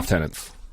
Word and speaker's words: lieutenant: So again, British versus lieutenants. Yep. They're spelled the same. Those crazy people down here. They're spelled the same. I think lieutenant makes more sense. That's actually how it's spelled. There's no F in lieutenant.